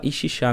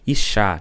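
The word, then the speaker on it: אשה: Que no hebraico se pronuncia, a gente fala Ixixá, né? Mas o hebraico se pronuncia Ixá, né?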